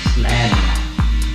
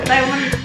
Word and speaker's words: Island: Slend. Island bacanya Neng. Ya, yeah. Slend. Mana ada baca Slend. Island. Island. Island. Astaga Deni. Slend. Itu kan. Iya tulisannya. Iya tulisannya Island. Bacanya Island.